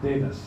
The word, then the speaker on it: Davies: Mike Davies or Mike Davis, take your pick. Mina might tell us the story about how there are two pronunciations to the last name, depending where you're from.